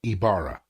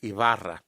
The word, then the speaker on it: Ibarra: I see your name to me it's pronounced Ibarra actually correctly pronounced is pronounced Avada okay well my accent told why the why is the Greek I which has the e sound and the B is a very soft B that's almost a V